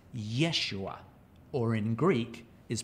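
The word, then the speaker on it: ישוע: The word Joshua in Hebrew is pronounced Yeshua, or in Greek is pronounced Jesus.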